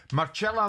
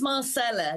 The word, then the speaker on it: Marcela: So, it's Marcela because I'm not Italian, but uh it's okay.